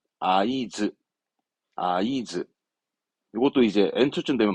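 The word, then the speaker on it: 合図: 수신호 하든 눈짓으로 신호하는 그 신호를 말한 단어입니다 발음은 아이즈 아이즈 이것도 이제 n2쯤 되면 많이 나옵니다 아이즈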